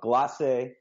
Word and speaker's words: Glace: for joining us you are the CEO of glass a cryotherapy did I say it right yeah you